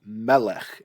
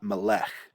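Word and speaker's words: מלך: And so that's why I say this is Melech and not Melech. This is Eretz and not Eretz. This is marking the syllable that's accented.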